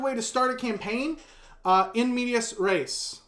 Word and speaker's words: in medias res: In medias res. And yes, that is the right way to say that.